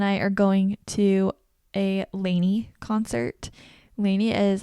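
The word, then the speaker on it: LANY: Saturday Adam and I are going to a Laney concert Laney is like my favorite band ever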